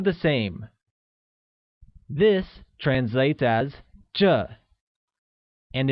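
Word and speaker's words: 这: same this translates as J and is pronounced with a falling tone also recall that from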